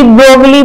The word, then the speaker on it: Broglie: डी ब्रोगली, ब्रोगली की बजाय इसका नाम ब्रोगी भी है। ठीक है, जनरली हम ब्रोगली बोल देते हैं, लेकिन इसका जो एग्जैक्ट प्रोनाउंसिएशन है, जहां का ही साइंटिस्ट है वहां पे इसको ब्रोगी बोलते हैं, ब्रोगी।